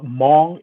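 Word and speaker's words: Hmong: with them long a little bit yeah so mom is spelled HMO and he were a small Asian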